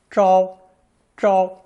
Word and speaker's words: 昭: It's pronounced first tone, zhao, zhao, and means bright, luminous,